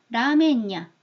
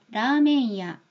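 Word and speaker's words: ラーメン屋: 받침이라 확정지어 버리는 거예요 그다음에 야를 붙입니다 그러면 라멘야 이렇게 돼요 그럼 얘가 냐가 돼 버리죠 그렇게는 읽지 않는다는 거예요 얘는 야로 읽어야 돼요 그러기 위해서는 라메이 이렇게 발음을 해야 된다는 얘기입니다 자 들어보세요 라메이 마센카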